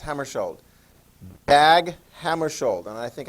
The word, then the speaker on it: Hammarskjöld: I've had some people with Norwegian background and so forth that say that is pronounced Hammarskjöld.